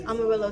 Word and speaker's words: Amarillo: Amarillo, Texas.